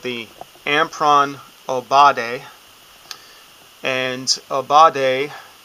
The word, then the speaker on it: Aubade: And Aubade, which can be pronounced many different ways, I'm pronouncing it more of an English way, translates to a morning song for lovers, or a song at dawn for lovers.